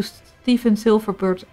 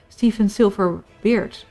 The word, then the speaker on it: Stephen Silverbeard: And I will have a look into Stephen Silverbird's episode on the community report. Nice idea for a series. I think it's actually called Stephen Silverbeard, actually. I pronounced it wrong.